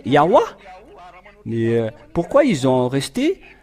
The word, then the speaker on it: Yahweh: Si vous avez écrit le Ya, ils doivent aussi mettre le terme A à la fin pour que ça soit Yahweh. Ils devraient prononcer Yahweh.